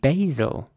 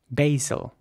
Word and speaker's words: basil: and in American English it would be pronounced basil with an a sound basil here's an example of